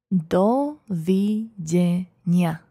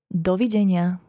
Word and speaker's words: Dovidenia: see goodbye in Slovak dovey Dania listen again to her Lydia pronounced is the syllable by syllable dole v-j Nia try it one more time can be heated again Lydia do Virginia well done let's go